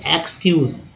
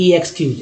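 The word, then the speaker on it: excuse: क्या कहेंगे, एक्सक्यूज, ना कि ऐसे बोलेंगे ई एक्सक्यूज, इस तरह से नहीं बोलते हैं, या ई एग्ज़ाम ऐसा नहीं बोलते हैं। एग्ज़ाम बोलते हैं, एग्जीबिशन बोलते हैं, एग्जिस्ट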